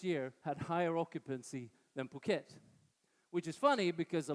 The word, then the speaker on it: Phuket: month of this year had higher occupancy than Phuket. Which is funny because a lot of the snowbirds that come from Europe can't pronounce Phuket, so they say "Phuket."